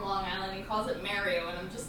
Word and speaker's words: Mario: The lizard guys remind me of the things in Mario Brothers. Mario Like, Brothers. I feel like they could be related. He pronounced it. He calls himself Mario. It's not Mario. Mario.